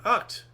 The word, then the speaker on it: Agt: That's his name, Ocht. Oh, Ott. AGT Oh, that's the way it's is pronounced.